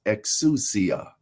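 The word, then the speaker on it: ἐξουσία: And the Greek word is exousia. Exousia. It is spelled in our alphabet, it is spelled EXOUSIA.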